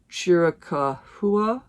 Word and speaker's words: Chiricahua: I was still glad I had the experience, but I went to, I know I'm going to pronounce this wrong, Chiricahua, I think is how you pronounce it.